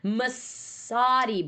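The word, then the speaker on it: Messoudi: all unanimously loved, and I've been saying their name wrong this whole time. Masadi brothers. Did I say it right? Yeah, Masadi brothers.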